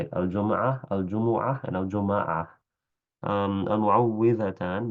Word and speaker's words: المعوذتان: المعوذتان بكسر الواو. So that's the only correct way to say it. So a lot of people say المعوذتان or المعوذات. That's incorrect for الفلق والناس.